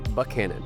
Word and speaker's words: Buchanan: But we not and it's spelled the same. Yes. As Buck Cannon.